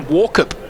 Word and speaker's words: Walkup: He hit his teammate Darren Walker on the chest. I've found out I've been saying his name wrong for a few years. Darren Walkup, Gray. It is Walkup, yeah, and getting back